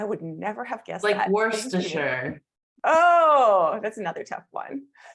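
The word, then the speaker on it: Worcester: gluster oh I would never have guessed that Worster oh that's another tough one and she's got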